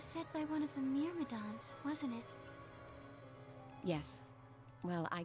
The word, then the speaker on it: Myrmidons: Myrmidons.